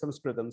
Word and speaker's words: Sanskrit: Sanskrit, so even the way I'm pronouncing Sanskrit is wrong, it's Sanskritam.